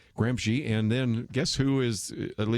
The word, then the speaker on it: Gramsci: I guess he says Gramsci. I'm mispronouncing it from my old days. Gramsci, and then guess who is, at least until recently, the head of the International Gramsci Society?